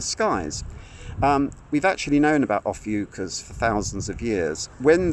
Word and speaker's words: Ophiuchus: But someone there took it upon themselves to presume that because a certain constellation called Ophiuchus, that's how you pronounce it, Ophiuchus, wasn't included in the zodiac, that somehow these